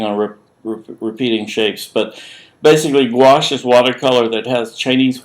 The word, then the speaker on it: gouache: type of water color called gouache pronounced gouache from french and jacob lawrence uses